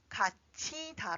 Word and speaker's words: 갇히다: So, It is not pronounced as , but .